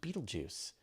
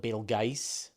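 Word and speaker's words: Betelgeuse: you're pronouncing beju correct I'm told it was pronounced Beetlejuice uh it doesn't matter I mean uh people call it Bal G uh there are so many different pronunciations for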